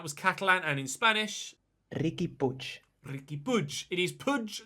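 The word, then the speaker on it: Riqui Puig: in the comment section who said that it's ricky puy not ricky pudge but it is ricky push if i go to the pronunciation website forvo f-o-r-v-o which is the site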